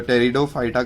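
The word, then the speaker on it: Pteridophyta: Stem, leaves नहीं थे, बट टेरिडोफाइटा में जो पी है वो साइलेंट होता है, तो टेरिडोफाइटा कहते हैं इसको।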